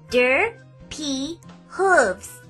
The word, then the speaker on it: Derpy Hooves: when defending Rainbow Dash say it with me der P Hooves it's not that hard to remember it's only three syllables 11 letters two words I do my best